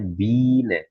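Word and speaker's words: Biene: Nah, ini kalau huruf I dan E ini dibacanya menjadi I tapi I-nya ditekan jadinya bina.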